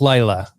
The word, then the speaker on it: Layla: It's like Lila. Lila Star. I've been listening to some comics podcasts, and that's how they pronounced it with Ramvi, the writer, on the show.